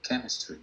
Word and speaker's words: chemistry: Cuando decimos la palabra química, chemistry, el sonido es como una K, chemistry, no chemistry, chemistry.